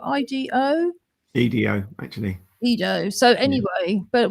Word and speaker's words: Edo: And yeah, it just sounds so interesting because I've heard of the Edo period, and I think that's spelled IDO. EDO, actually.